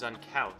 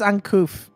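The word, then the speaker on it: uncouth: water tribesmen are just as uncalf as they say i think it's uncouf but you mock me no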